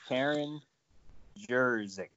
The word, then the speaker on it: Karen Jerzyk: And her name, and I might pronounce it weird, it's Karen Jerzyk.